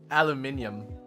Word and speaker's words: aluminum: Aluminium is said the way that it's spelled, but we say aluminum here.